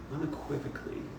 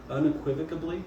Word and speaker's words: unequivocally: best thing today unequivocally is it unequivocally or une I say it wrong unequivocally un yeah okay I think I put a be in there somewhere like supposedly supposedly unequivocably no no no that's not just a be you add a whole